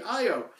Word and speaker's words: Io: think that is pronounced I like many pronounces I oh because that's a really short word how else would you prepare them it's got to be I oh and I was very relieved when I was